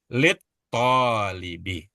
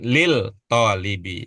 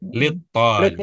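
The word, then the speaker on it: للطالب: Itu kalau Ya, merujuk kepada ilmu kita lebih cocok lit tolibi iya, Pak. Salah. ya, bukan lil tolibi tapi lit tolibi.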